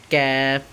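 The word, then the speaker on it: ك: একদম সহজ ঠিক আছে জিহ্বার গোটা হইতে একটু আগে বাড়াইয়া তার বরাবর উপরে তালুর সঙ্গে লাগাইয়া তাহলে উচ্চারণটা কি হলো ক্যাফ ক্যাফ একটু শক্ত করে হবে ঠিক আছে ক্যাফ একদম ছেড়ে দেওয়া যাবে না ক্যাফ ছয় নম্বর মাখরাজ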